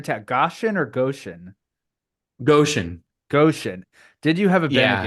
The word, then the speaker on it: Goshen: Goshen.